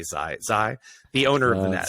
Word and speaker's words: Tsai: How do you say Tsai, the owner of the Nets. Tsai, yeah.